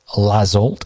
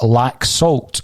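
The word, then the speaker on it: Laxalt: Now, what I would like to say, Kevin Graham is correcting me on my pronunciation of Lazolt, and he's saying that it's lack salt according to our Spanish correspondent.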